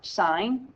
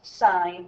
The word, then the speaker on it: sin: is always sis but it's just pronounced sine not sin the abbreviation for cosine